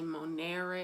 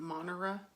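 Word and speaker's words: monēre: This E is long in case anybody ever wants to know why I say monere and not monera. It's long. Again, I would look up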